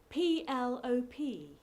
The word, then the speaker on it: PLOP: and they just said PL o P long orbiting planet presumably it's pronounced plop it's the sound the